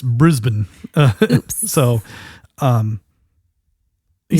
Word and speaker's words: Brisbane: He loves the way that we pronounce Brisbane. Sorry. Apparently it's Brisbane.